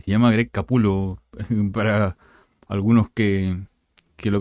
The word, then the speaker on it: Capullo: Y se llama Greg Capullo para algunos que lo pronuncian. No es Capullo, es Capullo. Se lee Capullo, obviamente, porque es lo que como está escrito, pero en realidad el apellido es Capullo, Greg Capullo.